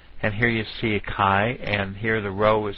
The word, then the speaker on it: chi: I'm emphasizing this is I really want you to know how to pronounce Kai Square now let's use our